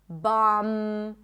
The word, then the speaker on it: bomb: When there is MB, especially at the end of words, the B is not pronounced. So in words like limb, climb, no B, bomb, no B, crumb, plumber, comb, there is no B whatsoever.